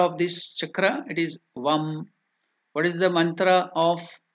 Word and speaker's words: Vam: Now here it is Vam, V-A-M. Can you pronounce this mantra? Vam, V-A-M. Vam or Vang, that can be that mantra.